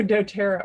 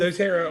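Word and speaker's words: doTERRA: and could you tell me about how to pronounce the name of the oils oh dotera oils dotera oils okay that's just something separate that I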